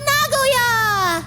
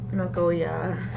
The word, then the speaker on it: Nagoya: The phantom thief of Nagagoya. Don't say it like that. Ha. No. Okazaki. Of course it would be Okazaki. The Phantom Thief of Nagoya.